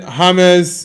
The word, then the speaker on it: James: Christian Moscera am says noble why you say James pronunciation say hames because pronunciation of uh James Rodriguez is James Rodriguez. Uh well it depends on if the person is Spanish or let's say English. For English the J A M E S is James.